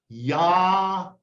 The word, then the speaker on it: Yahweh: Call me by my personal name, which is Yahweh." Yahweh is how you pronounce God's name.